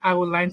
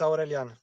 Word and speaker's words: Aurelian: Then before we can move to how is it Adeline? Sorry, if you can tell me how to pronounce Yeah, the name. it's Aurelian.